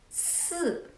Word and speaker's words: 四: 四, when you pronounce 四, think about in English, stop, sorry, 四. And then 十, like sheep, she, 四 and 十.